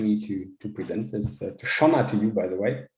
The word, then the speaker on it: Sionna: the beginning it was siona but then we had some irish people in the company who immediately said oh that's runner okay it relates to the river shannon in ireland so that's